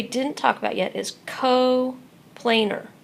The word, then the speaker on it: coplanar: talk about yet is co planar right there's not an e in the word I just put it there for pronunciation coplanar and just like co-linear